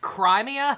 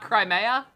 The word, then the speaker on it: Crimea: Crimea itself has spent the past years suffered during the It's pronounced Crimea, not Crimea.